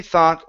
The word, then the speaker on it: thought: word thought right here instead of th it's an a sound so uh Jimmy thought long and hard Jimmy